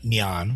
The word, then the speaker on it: 念: very fundamental Buddhist concept um uh neon which is kind of the pronunciation in modern Mandarin uh is a just